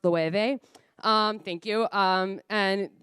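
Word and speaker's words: Loewe: based out of Spain I think it's pronounced lueve um thank you um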